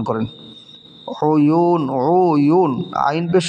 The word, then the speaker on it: عيون: এখানে ওয়াও মদের হরফ, তারপরের হরফে অক্ফ হওয়ার কারণে 3 আলিফ টান হবে। কয় আলিফ টান হবে? 3 আলিফ টান হবে। তাহলে উচ্চারণটা হবে উয়ুন উয়ুন, বারবার উচ্চারণ করেন এটা, উয়ুন।